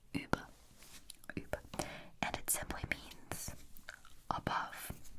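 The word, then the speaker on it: über: is you already saw it above okay so uber uber this is how it's pronounced uber and it simply means above above as in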